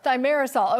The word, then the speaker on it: thimerosal: Thanks for being on the show, and we'll have to get the correct pronunciation from the expert, from the doctor here. Thimerosal, Cheryl. Thimerosal, okay, good to know.